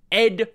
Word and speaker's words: ed: first Unix text editor Ed from 1973 created by Ken Thompson for the very first Unix system now technically Ed is pronounced as the individual letters E.D but for reasons that